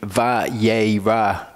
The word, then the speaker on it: Vayera: an a vowel, and the aleph is silent.